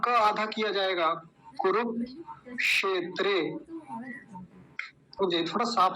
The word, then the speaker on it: कुरुक्षेत्र: कुरुक्षेत्र ऐसा बनेगा य क्योंकि य जो बीच में क्षेत्र में य आया था यह मैंने कैसे बताया यह कैसे बनता है क आधा और मर्न सकार पूरा इन दोनों से मिलकर बनता है तो क्या बोलेंगे कुरुक्षेत्र कुरुक्षेत्र ऐसा बोलेंगे इसको दो शब्द हो गए